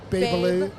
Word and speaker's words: Babyliss: briefed about how to say the B word, Babyliss. Babyliss. So I didn't know if you Babyliss. guys were briefed on how to say Rapido. Listen, I didn't know how to Rapido. say Babyliss until like last year.